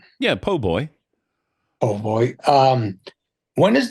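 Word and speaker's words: po' boy: man uh friendship always was excellent uh a PoBoy was nice too did I say it right yeah PoBoy oh boy um when is the first time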